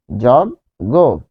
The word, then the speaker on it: যজ্ঞ: তাহলে যজ্ঞ। যজ্ঞ তাহলে এখানে জ এর সাথে কি আছে? অ রয়েছে। তাহলে অ এর পরে কি রয়েছে? এইযে এটা রয়েছে। অ এর পরে বর্গীয় জরয়েছে। তাহলে এখানে হবে জ গো। এবং এখানে চন্দ্রবিন্দু হবে যগ্য। তাহলে এখানে হবে যোগ্য। যোগ্য।